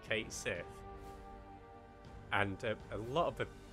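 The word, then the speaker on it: Cait Sith: Because they've confirmed that catchy is pronounced, I think, was it Kate Sith?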